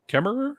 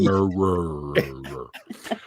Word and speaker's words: Kemmerer: and brother from another mother, and also our guest tonight is Stephanie Kemmerer. Is that how it's pronounced?